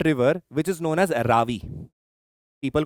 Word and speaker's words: Ravi: Next, the next thing that comes is an important river which is known as Ravi. People call it Ravi. Sometimes it is the correct pronunciation is Ravi River.